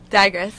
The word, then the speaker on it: Dagres: Dagres, yeah.